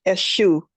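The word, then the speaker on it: Èṣù: Um it's pronounced a shoe. Esu as in e and then shoe like the shoe on your foot.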